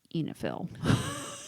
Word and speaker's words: oenophile: It's pronounced Enifiel.